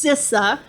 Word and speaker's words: CISA: repeat it several times a little bit about cisa and it is pronounced sisa um it's still we're really the the newest